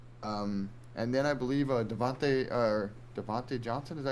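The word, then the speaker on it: Diontae: And then I believe Devontae Johnson, is that how you say his name? Deontay Johnson Yep.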